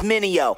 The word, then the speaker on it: Mineo: everybody make mistakes like vj's trying to say my name is mineo say it with me mineo okay okay i messed